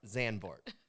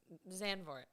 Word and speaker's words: Zandvoort: to pronounce the names sanvoort zanbort i always screwed it up it doesn't make sense to me that word zanbort it's zanvort zanvork well that's where we